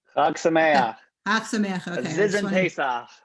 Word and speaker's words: Chag Sameach: Chag Sameach.